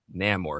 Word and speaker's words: Namor: a Cajun person pronounce Namore?" Because we say Namore, but it would be like more, you know, like like Amore.